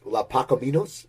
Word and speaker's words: Los Pacaminos: And I want to hear, and I want to pronounce it right. I lived in LA. I know my Spanish. Los Pacaminos, is that right?